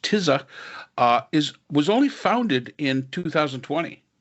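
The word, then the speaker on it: Tisza: The other interesting thing is that this party, and it's TISA, I believe it is pronounced TISA, was only founded in 2020.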